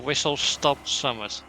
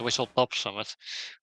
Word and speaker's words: Whistle Stop Summit: Going to Whistle Stop Summit, which people still don't know how to pronounce correctly. They keep calling it Whistle Top Summit.